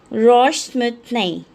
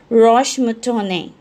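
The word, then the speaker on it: roche moutonnée: This is pronounced as Roche-Moutonne. In French we say as Roche-Moutonne.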